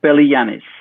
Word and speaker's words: Beligiannis: Yeah, it's Belianis. It's of Greek origin.